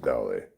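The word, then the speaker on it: Dale: Pronounced Dolly.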